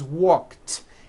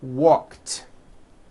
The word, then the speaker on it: walked: T jumped like that the word walk which has an unvoiced K sound at the end walk becomes walked yesterday I walked here's the second rule